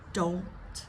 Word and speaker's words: don't: you got the N A lot of these have NS so the N goes to the roof of the the mouth up where the alvea ridge is which is that bumpy part I can't don't don't